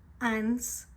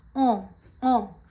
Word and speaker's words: ans: So this basically is not ants, it's not answer, it's on. Repeat with me, on.